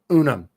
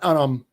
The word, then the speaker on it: Unum: Unum. Not Unm like Pluribus Unum. That's how you say it.